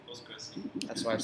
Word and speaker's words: PostgreSQL: How do you pronounce it? PostgreSQL. PostgreSQL.